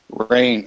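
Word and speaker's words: Reign: first name is your last name is pronounced rain re e i GN good I did it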